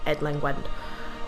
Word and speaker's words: Edlengwen: It's spelled Edlengwen, but apparently it's pronounced Edlengwend.